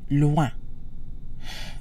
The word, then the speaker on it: loin: The combination oin is pronounced ouin, so loin.